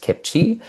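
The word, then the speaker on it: CPCHE: Canadian Partnership for Children's Health and the Environment, pronounced Kipchi.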